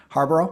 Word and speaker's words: Harbaugh: bear quarterback right name Harbor yeah yeah every um Harbor is how you say it um but uh yeah